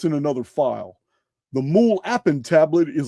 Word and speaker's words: MUL.APIN: tablets from 687 BC called mule appen. I'm going to show you're going to see how this is spelled here in a minute, but it's mul period appen all capital letters.